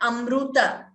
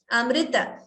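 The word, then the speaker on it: अमृत: that this perfectly not the pronunciation of the word amrita it is not amruta it is not it is like i say always that's amrita and also it is not amrita that's another common mistake we come across there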